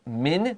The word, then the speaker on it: Englishman: he's using us so listen to my pronunciation of english min that's m-a-n but i say it with a short i a lot of times